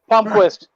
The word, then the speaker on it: Palmquist: Is it pronounced Palmquist, Travis? Chuck, that would be a Chuck question. Chuck, yeah, Palmquist.